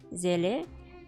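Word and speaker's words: Seele: in absolutely every voiceover in Russian transcription it's written as zele which is how I pronounce her also in the new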